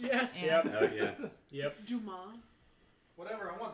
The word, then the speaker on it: Dumas: Dumas. Whatever. I want dumbass. Mr. Dumbass, Dumbass, and Dumbass. It's pronounced Dumas.